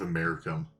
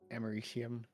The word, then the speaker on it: Americium: It showed that we were out of Americum. Oh. And I was like, that might be an issue, but no, it's just a one-time thing. Actually, it's pronounced Americium.